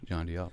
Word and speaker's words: Jandial: and uh rahul and your last name is pronounced john dill john deal perfect danielle dr rahul janniel